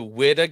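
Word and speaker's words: Whydah: W Galley because it was just filled with gold yeah and apparently it's pronounced the WID Galley I hate that I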